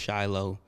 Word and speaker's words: Shiloh: Shiloh is the name, pronounced Shiloh.